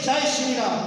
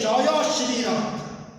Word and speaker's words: Jaya Shri Ram: Here they pronounce completely. So they don't say Jai Shri Ram. They say Jaya Shri Ram.